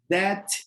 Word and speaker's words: debt: Debt load. Debt load. Yes, remember not to pronounce the B, okay?